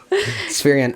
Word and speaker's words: Spherion: Spherion.